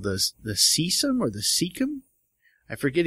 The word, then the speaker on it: cecum: Cecum? It's spelled C-E-C-U-M, so cecum.